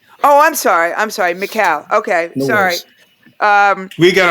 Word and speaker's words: Mikal: And also just it's a the proper pronounce is is Macau. Oh, I'm sorry. I'm sorry. Macau.